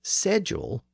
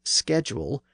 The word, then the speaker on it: schedule: In case you forgot, the word was apparently pronounced as sedul throughout Middle English and Early Modern English.